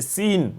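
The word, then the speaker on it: سين: So I don't say sa, sa, sa. I say sin because I want to pronounce the name of the letter.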